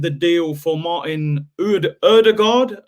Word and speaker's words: Ødegaard: deal for martin ud erdogard erdogard i think that's how you pronounce it i'm still calling him older god but everyone's saying erdogard there you go big